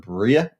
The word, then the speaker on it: Briar: But we've got little pictures of Bria, the dog. Now it's spelled Briar, but it's actually pronounced Bria.